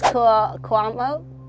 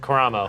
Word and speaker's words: Karamo: There is Cuomo. Sure. Is that how you say it? Karamo.